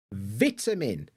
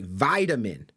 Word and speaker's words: vitamin: which is good because the correct answer of course is a vitamin vit Min vitamin Americans will say vitamin vitamin because they also have that like D sound rather than a t right um so